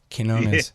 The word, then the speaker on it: Quinones: Oh, you got to really get the quiche. Quinones. Yeah. It's a K. It's like an Arabic Q.